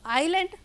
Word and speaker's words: island: अब बच्चों आइलैंड, आइलैंड क्या होता है, ये ISLAND लिखा हुआ है, लेकिन यहाँ हम S प्रोनाउंस नहीं कर रहे हैं, ये इसमें साइलेंट वर्ड है।